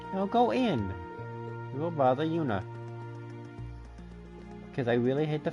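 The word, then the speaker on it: Juna: go in real brother Yuna because I really hate the fact that technically the J is silent but it's technically not silent does the plan sound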